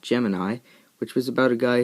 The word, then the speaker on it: Gemini: I'm trying to make shouldn't it be pronounced goo meanie like that's kind of what the board looks like and up until this trip that's how I thought it was pronounced but I sent it